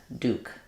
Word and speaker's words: Duke: fairly straightforward UK Duke so it's like uh in the word do or in American English this word do um the book about the Duke is do so we say these two words the same uh British English might do do and do they use a y sound in this but uh we just use the plain oo sound do uh thank you